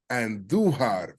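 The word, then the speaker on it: Andújar: Damn, Miguel Andujar. Roll your R's when you say Andujar.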